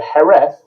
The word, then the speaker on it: Jerez: Okay, so Jerez is our attempt, if you like, over the many, many hundreds of years that we've been drinking this wine in England, of pronouncing that place.